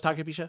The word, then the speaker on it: Takabisha: And in the day that we were there, I was able to get Takabisha after I might be mispronouncing that. Um, but we rode Oh, it was Takabisha.